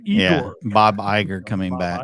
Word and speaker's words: Iger: Is it really even with Iger? Did I say his name right? Igor. Yeah, Bob Iger coming back. Iger being back with BC Bob Chapek gone.